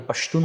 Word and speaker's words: পাশতুন: এটা মূলত উচ্চারণ ভেদে পাসতুন যে ভাষা আছে পাসতু যে ভাষা আছে এই পাসতু ভাষা যারাশিন লেহেজায় উচ্চারণ করে তারা তাদেরকে পাশতুন বলে। আর যারা খা লেহেজায় উচ্চারণ করে তাদেরকে পাখতুন বলা হয়।